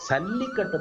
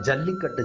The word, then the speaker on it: சல்லிக்கட்டு: நடைமுறையில இருக்குன்னு வச்சுக்கோங்களேன் ஆக சல்லிக்கட்டு தான் ஜல்லிக்கட்டு ஜல்லின்னு சொல்லி வடமொழிச்சொல் ஜா உச்சரிக்க கூடாது தமிழ் ச தான் உச்சரிக்கணும் சல்லின்னு தான் சொல்லணும் ஆமா சல்லின்னு தான் சொல்லணும் ஜல்லின்னு சொல்லக்கூடாது ஏன்னா ஜல்லின்னு சொன்னா என்ன பொருள்னா